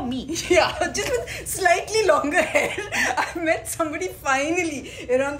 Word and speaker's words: Langer: yeah yeah with my auntie yeah got the pronunciation right longer good enough longer okay by the way guys